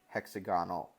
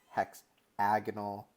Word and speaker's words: hexagonal: But when you get to shapes like this, just so you know, that's not hexagonal, octagonal. It's hexagonal, octagonal. That's how you pronounce it, which, you know, might not ever come up in your life.